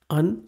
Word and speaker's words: Qwen: Also, you might have noticed that instead of saying Qwen, I am saying Un. So that is a Chinese pronunciation, as has been corrected by one of the viewers.